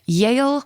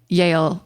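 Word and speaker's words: Yael: And that Jewish person is Georgia Yale Hard Stark.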